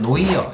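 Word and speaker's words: noir: 누아르, 미국 사람들은 노이어 이렇게도 발음을 하는데, 정말 그 느와르 영화의 흑백의 좀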